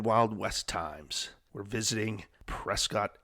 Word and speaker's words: Prescott: We're visiting Prescott, Arizona, or Prescuit, how they say it here in Arizona.